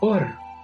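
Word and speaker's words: עור: La palabra hebrea para piel es la palabra or, pero también existe otra palabra hebrea que se pronuncia igual, or, y esa significa luz.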